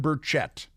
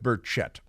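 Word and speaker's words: Burchett: by the name of Tim burett burett berett I go with berett here different pronunciations on the television news but uh Tim Brett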